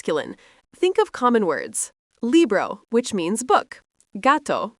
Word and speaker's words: gato: Gato, phát âm là GAH-toh, nghĩa là mèo khi đó là mèo đực.